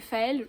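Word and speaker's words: Féals: Ensuite, j'ai aussi acheté Les Chroniques des Faël, je pense que ça se prononce comme ça parce que c'est pas Faé, c'est vraiment Faël avec un L, de Mathieu Gabory.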